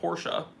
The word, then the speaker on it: Porsche: Porsche or Porsche, P-O-R-S-C-H-E is how you spell Porsche, and Porsche is how you say it.